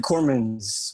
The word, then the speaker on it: Cooremans: the way you did corman's with the s at the end some people don't they